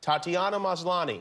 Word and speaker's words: Tatiana Maslany: presented it, and he, this is how he pronounced your name, which is, and correct me if I have this incorrect, Tatiana Maslany. Very good.